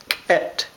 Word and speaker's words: ket: We call that ket, ket. You actually pronounce the K all by itself, ket, ket.